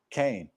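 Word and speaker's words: קין: Khan, Kaf, Nun is actually pronounced Cain. It's pronounced Cain.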